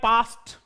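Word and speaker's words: passed: You have पास्ट, डे नहीं बोलेंगे, इसको क्या बोलेंगे, टे बोलेंगे।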